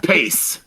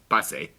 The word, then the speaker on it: Pace: This is the salsa that when I was a kid, there would be these advertisements about New York City Pace Picante salsa. It was Pace.